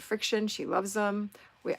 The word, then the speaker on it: FriXion: okay and marty said friction she loves them we i called him frixion for a long time but it's actually friction um but it's spelled in a weird way i unfollowed and followed